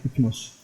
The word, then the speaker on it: Hypnos: On prononce à la grecque « hypnos ».